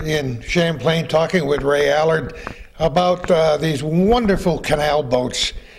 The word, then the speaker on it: Allard: His son Norman, my father, changed it to A-L-L-A-R-D, of which is the original French name. When they came from France, it was spelled L-L-A-R-D, A-L-L-A-R-D. But it's pronounced Allard in French.